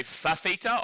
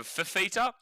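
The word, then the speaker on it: Fifita: But the point I was making, Nathan, that he always gets upset when people say fafita over fittita. Obviously, it's spelled f i f i t a but everyone spells it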